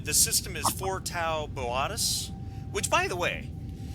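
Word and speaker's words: Boötis: of everybody is that it's actually pronounced like cooperation um and the what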